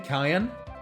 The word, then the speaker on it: Cyan: I kind of want to pronounce his name Kyan, because that was originally intention to pronounce it like his name should be Kyan.